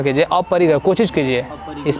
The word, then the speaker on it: अपरिग्रह: और अपरिग्रह, शुद्ध उच्चारण कीजिए। अपरिग्रह, कोशिश कीजिए, इस पे नंबर नहीं कटेगा।